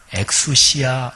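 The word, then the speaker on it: ἐξουσία: 안 된다 그런 거지요 여기 권한요 말이 헬라어로 엑수시아 발음하는데 우리 한글로 좀 더 이렇게 옮기면 전권이라고 얘기할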